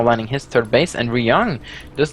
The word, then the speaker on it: Ryung: I read the Y. Ryung. This is a lot easier for me because in Norwegian the Y is pronounced differently. Yeah, it's pronounced E, Ryung, so it's very much easier for me to say it that way.